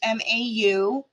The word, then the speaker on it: Mau: And it's Mau. It's the Egyptian form, go figure, look it behind me, of how to say cat. And you pronounce it like what a cat says, meow.